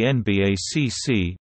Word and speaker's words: NBACC: in frederick maryland usa the nbacc pronounced nbac is the principal u.s